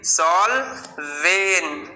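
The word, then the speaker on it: solvent: দেখো এইবার SOL, সল। কেন সল হচ্ছে? কারণ এটা VCC রুলসের মধ্যে পড়ছে। ভাওয়েল, দুটো কনসোনেন্ট, ভাওয়েলের পরে দুটো কনসোনেন্ট আছে, তো এটা কি হলো? ও এর উচ্চারণটা অ এর মতো হবে, সল। SOL, সল। লিখে ফেলি সল। VEN, ভেন হবে। কি হবে? ভেন। Saul when. ভেন কেন হচ্ছে? কেননা এটাও VCC রুলসের মধ্যে পড়ছে, সলভেন।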